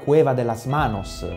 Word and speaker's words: Cueva de las Manos: Guardate qui la Cueva de las Manos, se si pronuncia così, la Grotta delle Mani in Patagonia,